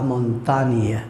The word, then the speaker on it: montagne: Quand nous avons les deux lettres G et N, on prononce normalement dans le mot, on prononce ni, la montagne, la ligne par exemple, signe, signature, ni.